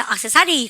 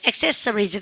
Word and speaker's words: accessories: 그래서 액세서리 가면 대부분입니다. 액세서리 아니고 accessories.